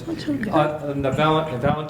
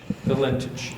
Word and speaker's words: Valentich: That's Valentin. Is that how you say his name? Fred Valentich. Valentich.